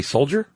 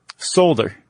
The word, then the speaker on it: solder: Did you say soldier? Solder. Solder. Yeah. Never heard it pronounced that way. How do you say it? Solder. A solder. You got to say that L. I think the L silent unless it's regional.